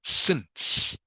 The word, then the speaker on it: since: This word, by the way, knock 2, is pronounced since. Can you say that for me, please, knock 2? Since. Since. Good. Since. Like this is an S. Okay, this is pronounced like an S.